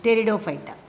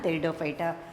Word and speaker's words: Pteridophyta: Thalophyta, Bryophyta and Pteridophyta. Here P is silent. So non-flowering plants, we divide them into Thalophyta, Bryophyta and Pteridophyta.